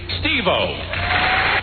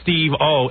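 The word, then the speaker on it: Steve-O: ICP New York here's steo steo steo like his name steo one word steo well in all in all fairness to Ed what the hell is Steve I mean what how you supposed to pronounce that although he does get everyone's name wrong it's supposed to be Steve O and Jackie the jokan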